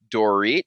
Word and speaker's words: Dorit: now we're talking about beverly hills like uh dorit is that how you say her name yes